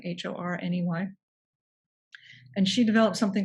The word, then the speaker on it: Horney: Her name was Karen Horney, although it's spelled Horny, but I've heard it pronounced Horney, Horney.